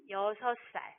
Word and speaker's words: 살: 자, 그럼 이때는 어떻게 발음하죠? 6살? 아니죠? 네, 맞아요. 6살. 이렇게 이야기해요.